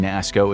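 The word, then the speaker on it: NASSCO: Though there are a handful of major players like BAE, MHI, NASCO (pronounced nass-co), and Vigor, these companies rely on literally thousands of different sub-contractors that work underneath them.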